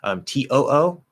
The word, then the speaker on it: too: TOO, that should also always be a T, meaning it also in addition.